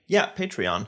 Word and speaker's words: Patreon: So we posted a poll on our Patreon, Patreon.